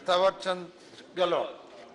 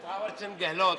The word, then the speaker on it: थावरचंद गहलोत: या mister mister minister थावरचंद गहलोत। ये नाम सही लिया आपने। Correct pronunciation, mister थावरचंद गहलोत, इतना लंबा नाम।